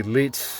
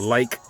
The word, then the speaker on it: lich: A lot of people say Lich, but I believe it's really actually pronounced the like.